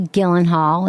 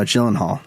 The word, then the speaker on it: Gyllenhaal: I thought it was great with Maggie Gyllenhaal. Is that how you say it? No, Gyllenhaal.